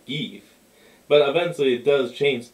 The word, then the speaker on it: Geef: And it's not Goof, it's spelled with E's. So it's like George G. Geef.